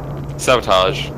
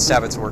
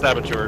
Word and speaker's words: Saboteur: It is pronounced Saboteur, just nobody pronounces it right and nobody cares.